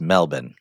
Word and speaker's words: Melbourne: was that Trevor Tommy it's pronounced melbour so you know I